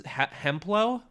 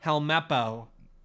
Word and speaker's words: Helmeppo: he has a son how do you pronounce hemplow a helmeppo helmeppo that's actually a lot better of a pronunciation helmeppo and uh helmepo